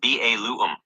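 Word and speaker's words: Balaam: Okay, so Balam is pronounced Ba Lu.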